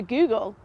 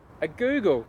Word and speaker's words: googol: Today we've got a Google. A Google? A Google. As in the website? Kind of, not spelt the same. It's spelt Googol.